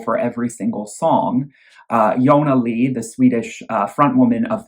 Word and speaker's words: Jonna Lee: stage name yonalee uh with an i instead of a j because that's how it's pronounced in swedish um and those albums